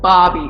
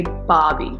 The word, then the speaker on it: Barbie: no like a job I just Bobby instead of saying Barbie like don't pronounce the odd just say Bobby yeah this is BBQ